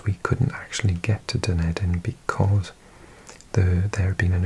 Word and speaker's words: Dunedin: I think I mislearned it originally, and I used to pronounce it Dunedin, as if it's like some word from Lord of the Rings. But it is actually a Gaelic word, or Gaelic word. It's related to the word for Edinburgh, I believe.